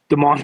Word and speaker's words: Demond: It's not Desmond. There's no S. Demond Claiborne, like the Kevin Colemans, uh, Amari DeMarcado.